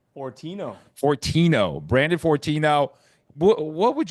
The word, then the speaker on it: Fortino: Fortino.